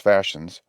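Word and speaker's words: fascines: word is pronounced Gavins the Fashions pronounced Fashions are as I said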